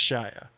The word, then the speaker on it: Shia: I can't do it Shia LaBeouf Shia just Shia LaBeouf and he seems like he's on some